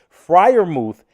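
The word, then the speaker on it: Freiermuth: Frier Mouth is his actual real name. Um, and it's quite easy to pronounce because you literally it's you read it like, "Oh, it's Frier Mouth.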